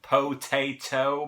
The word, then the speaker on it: potato: Anyways, so there's a reason that the two T's in potato are pronounced differently by Americans. It's because the first T follows an unstressed vowel. The second T follows a stressed vowel.